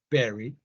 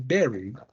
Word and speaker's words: buried: that's my emphasis when you read this in English you have to sit very very intelligent not very intelligent yeah because people May mispronounced by saying Berry which is not the same okay let's practice with